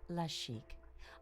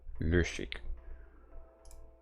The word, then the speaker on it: Le Chic: Welcome to Boutique La Chic. proprietor. Here you'll find only the best. It's pronounced Le Chic.